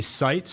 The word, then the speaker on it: Sites: They'll get a chance to come in and meet Jimmy Sites, our guest speaker. And let's give the correct spelling. I said it wrong earlier. It's Sites.